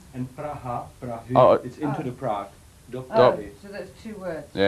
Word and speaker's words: Praha: - Praha!